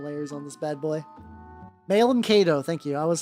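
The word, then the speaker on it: Malum Caedo: The like Kato Malus, something like that. Something like that. I forget exactly how his name is pronounced.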